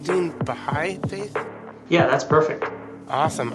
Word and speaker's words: Baháʼí: of the am I saying it right Dean behind Faith yeah that's perfect awesome awesome Dean's a member of the Baha'i faith um Dean I met you I mean